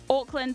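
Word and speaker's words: Auckland: New Zealand called Oakland Oakland spelled with an a some people are like Oakland like Orcs no no no Oakland like a u c k land not Oakland they're very different places Oakland and Oakland are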